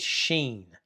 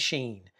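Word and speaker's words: shin: And then when you have the dot on the right is sheen. Scene and sheen. Senhe and sheen. So there's an added h value to that in terms of pronunciation.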